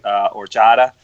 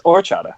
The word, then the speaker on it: horchata: ones, but I'll be starting with the brewery Horchata, or Horchata, depending on how you want to pronounce it. But 7.2%. Someone correct him, please. It's Horchata.